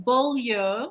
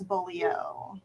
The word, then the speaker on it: Beaulieu: Don Beaulieu with us. Did I say that right, Don? Yes, that is correct, but the incorrect Wisconsin pronunciation is Beaulieu.